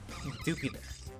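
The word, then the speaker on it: Dewpider: It's a do spider. It should be like do pider, not dupider.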